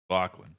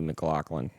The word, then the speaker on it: McLaughlin: Yeah, but I think it's just how you pronounce it. Mclaughlin. It's definitely not McLaughlin.